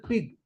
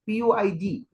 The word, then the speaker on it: Puig: the crack generation Manuel Pig Puig I don't know the exact pronunciation you might think that it is pig but it is Puig manual Pig who brought